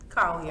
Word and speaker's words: Collier: I think your last name is pronounced like Collier. Collier.